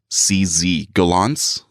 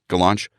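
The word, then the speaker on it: Gollancz: this publisher name g-o-l-l-a-n-c-z gallants i guess the launch sure cz is ch in like like czech like czechoslovakia yeah sure why not go launch yeah publish 20 2018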